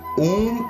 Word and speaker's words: Om: The mantra Om consists of 4 syllables, A, U, M and the silent syllable.